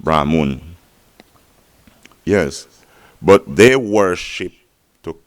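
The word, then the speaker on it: Brahman: that their god is brahmoon spelled b-r-a m-a-n-r-b-r-a-h-m-e-n pronounced brahmoon yes but they worship to communicate with their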